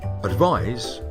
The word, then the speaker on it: advise: s and the verb advise has an s which is pronounced like a zed english is most certainly